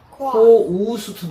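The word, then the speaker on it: coast: 그거는 코스트 얘는 코스트가 아니고 코우스트 느낌 따라사야 돼. 이거 잘 들어 보세요. 그냥 코스트 이게 아니고 코우스트 느낌을 해.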